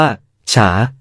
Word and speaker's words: 茶: ค้น คำ นี้ ดู เห็น คำ นี้ ออก เสียง ว่า ชา คล้าย คำ ว่า ชา ที่ เรา ใช้ กัน ช้า สรุป ว่า ลา